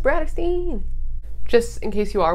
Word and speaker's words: BRATTERSTEIN: name is Brittany and my channel name is pronounced BRATTERSTEIN.